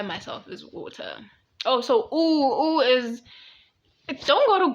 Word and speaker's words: Eau: I'm pronouncing it in English, not in French.